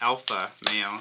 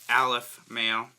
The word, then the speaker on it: Aleph Male: is from the company Aleph mail so not to be confused with alpha male it's not helping out it's pronounced Aleph mail and we have well